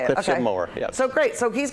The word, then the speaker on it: Moher: it I was saying moehr you know like oh it's been pronounced several different ways but yeah so it's like a lawnmower but nobody doesn't know how to say it more yeah so great so